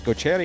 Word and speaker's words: Gochetti: So by definition, it would be pronounced differently than we would have pronounced the father's name.